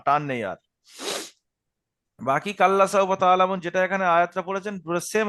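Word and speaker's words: تَعْلَمُونَ: তো ওয়াওলিনের পোড়ায় ছিল সাওফা কাল্লা সাওফা তালামুন কাল্লাফা সৌফাতা আলামু হুম এখানে তা আইন জবর তা এখানে আইনটা গলার মাঝখানে থেকে উচ্চারণ হয় আমরা জানি তাহলে গলার মাঝখান থেকে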